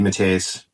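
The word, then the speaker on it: DeMatteis: that way uh JJ Matas I I said his name wrong the first time I said matis it's Matas mat J Matas uh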